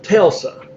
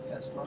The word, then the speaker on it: Tesla: Have any of y'all ever heard of Telsa? Telsa? T-E-L-S-A? It's a car company. Tesla.